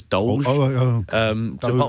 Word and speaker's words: DOLGE: So not Doge, it's DOLGE.